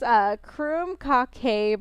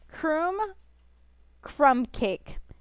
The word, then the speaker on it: krumkake: Krumkake is pronounced Krumkake, by the way. Crumb cake.